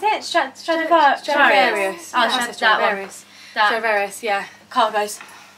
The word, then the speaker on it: Stradivarius: And then, how do you pronounce it? Stradivarius.